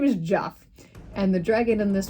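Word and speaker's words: Geoff: you pronounce oh and I pronounce it Joff that's how they pronounce it his name is Jeff and the dragon in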